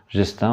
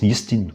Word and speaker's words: Gestin: Gestin, en fait, c'est la prononciation en français. En réalité, en breton, on le prononce Yistin, ou Yistin même, qu'on retrouve en Plestin.